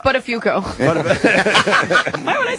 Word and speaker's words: Buttafuoco: It's pronounced Buttafuoco.